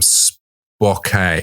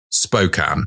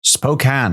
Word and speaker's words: Spokane: East Washington city of Spokane Spokane that's how it's pronounced oh it's not Spokane after all no the a is misleading so that's how the word is spoken oh that's a good